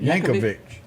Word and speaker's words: Yankovic: Because he was Weird Al Yankovic. Is that how you say it? Yankovic.